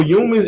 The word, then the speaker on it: Youmans: It's spelled Youmans, but we just switched it up and made it kind of looks like premium. You know what I'm saying? Humans, but it says humans.